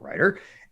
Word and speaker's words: Reuter: That's spelled Reuter. Always have to say that because it sounds like Ryder.